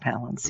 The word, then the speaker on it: Palance: correct daddy was jack palance yes putting that out there uh palace rhymes with balance i think um collins